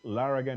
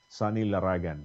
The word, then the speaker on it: Laragan: is laran it's laran here in the UK but in the Philippines my name is Sagan you know um a different pronunciation yes yes I have